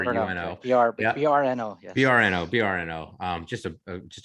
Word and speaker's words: Brno: it's in uh berno it's in bruno you pronounce it bruno b r and um brno brno um just a just a beautiful little